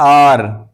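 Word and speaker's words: hour: आगे है आर आर आर। यहां भी एच के बाद ओ यू एक साथ आया है। तो यहां भी एच साइलेंट है।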